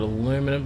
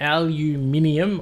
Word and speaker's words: aluminium: uh what we got aluminum why did I just speed up slow down we got aluminium or aluminum depending on how you pronounce it where are wherever you are in the world um anything else I